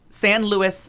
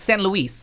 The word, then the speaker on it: San Luis: No, So it's really San Luis Obispo. Right. I know And that. you can't whiten But it. You can't. It's San Luis.